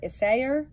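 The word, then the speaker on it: Isager: a g e r that is how you pronounce it isay and um isay soft it is called This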